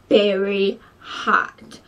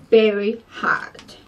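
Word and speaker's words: Berry Haut: And 660 Berry Hot. But it's spelled H-A-U-T, Berry Hot.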